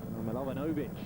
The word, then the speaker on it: Milovanović: Milovanović even. Don't want to miss out a syllable there.